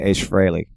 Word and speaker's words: Ace Frehley: do you say okay alright and I say ace frehley okay all right Ace Frehley is how they